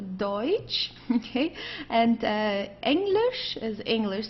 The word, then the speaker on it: Deutsch: Okay, don't confuse it with Dutch. This is not Dutch, it's a Deutsch.